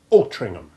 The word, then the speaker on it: Altrincham: The letter H is silent, as in the typical HAM place ending, but the preceding C is pronounced as if it were a G to rhyme with Birmingham. Altrincham.